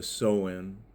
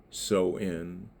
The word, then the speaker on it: Samhain: And they say the sew in, you know, pronounced so in shaman.